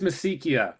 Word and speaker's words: Misikia: It's pronounced Misikia, which is something that you probably wouldn't have guessed, but it's close enough. That's good for me. I speak Italian, so in Italian it is Misikia. So, but why do I assume you're going to pronounce it in American English as opposed to Italian? But Misikia, good. You're following the mother tongue.